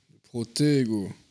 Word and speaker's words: Protego: Que vous savez sur quelle syllabe on accentue? Sur le T. Protego.